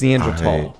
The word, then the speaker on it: Neanderthal: I've heard that's we've been pronouncing it wrong. It's Neanderthal.